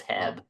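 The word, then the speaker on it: H-E-B: get to that question is that how it's pronounced HB I thought it was Hebb is it not HEB no it's it's definitely not Hebb uh it's kind of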